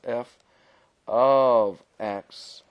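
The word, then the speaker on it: f(x): If I was to simply say f of 3, and notice this may look like f times x, but it is pronounced f of x, then f of 3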